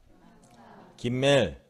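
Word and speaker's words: גימל: 김멜. 숫자값은 3이고 발음은 예, 기역 발음입니다.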